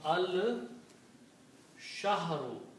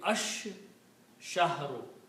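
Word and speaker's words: الشَّهْرُ: And shin is a shamsi letter, so when lam comes before shin, then lam is not pronounced. But, shin is pronounced twice. So, this the pronunciation will be ash- shahru.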